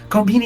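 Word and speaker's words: コンビニ: this the actual word comini is the actual word that's how you say it that's how you say convenience store in Japanese yeah comini so it's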